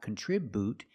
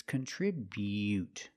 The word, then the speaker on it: contribute: Contri contribute. Remember the bu is not boo. It's not contribute. It's contribute. Make the y-yu sound.